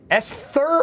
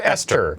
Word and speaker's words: Esther: So this is the new game from the Chinese room, put together Dear Esther or Esther? Esther. That's weird to me. There's an H in there. No, it's a silent H.